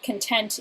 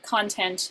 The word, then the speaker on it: content: slightly different words so for example the well content is an adjective and content is a noun so you've got to watch your lexical stresses because you're either mispronouncing the word or turning it into a different word if you get it